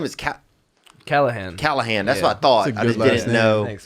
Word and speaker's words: Callaghan: Is Cal Callahan.